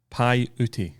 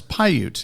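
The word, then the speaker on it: Paiute: His golf course is pronounced Py. No, it's Pyute, isn't it? Oh, Pyute. Okay. There's no a at the end. Pyute. Yeah, I I don't Yeah, I think it's called Pyute.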